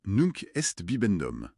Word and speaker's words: Nunc est bibendum: Elle s'appelle Nunk Est Bibendom. Oui, Nunk Est bibendom, il faut le prononcer. Nunk est bibendom d'ailleurs.